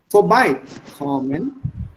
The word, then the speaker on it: vorbeikommen: vorbeikommen, Yeah, so is it vorbeikommen oder vorbeikommen? Vorbeikommen. So wo liegt der Akzent? vorbei.